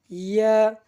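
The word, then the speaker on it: ياء: ইয়া, ইয়া, ইয়া আমরা জিহ্বার মাঝখান থেকে তার বরাবর উপরে তালুর সঙ্গে লাগাইয়া উচ্চারণ করি ইয়া, ইয়া, ইয়া।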